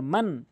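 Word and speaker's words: مَنْ: এটি মিম নুন জবর মান, স্পষ্ট করে উচ্চারণ করতে হবে। মান হামজা জবর আ দাল জেরে দি নুন জবর না, মান আযিনা লাম জেরে লি মিম নুন জবর মান, মাং বলা যাবে না, গুণনা করা যাবে না, মান বলতে হবে।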